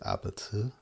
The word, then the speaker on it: APT: Rosie with a or apata. I think the pronounce the correct way to pronounce it is abet. The Korean way to say apartment, which is actually like